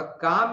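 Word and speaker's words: calm: है अंग्रेजी की कि एल साइलेंट है और काम में सुनाई कौन कन पढ़ रहा है सिर्फ क एक वल साउंड आ और एक म तो तीन ही साउंड हुए ना अर चार है स्पेलिंग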